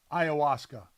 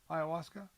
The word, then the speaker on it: ayahuasca: in it again for ayahuasca we think that's how we say it ayahuasca yeah that's how you say it or is that how you're just saying you're just saying it with with such like assuredness that that you're gonna that that's the right way to say it so it says